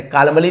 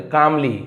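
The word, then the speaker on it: calmly: यहां पर भी एल साइलेंट है। कालमली नहीं बोलेंगे। कामली यानी शांति से एंड सेड।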